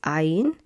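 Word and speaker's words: עין: It's ain. And ain is silent.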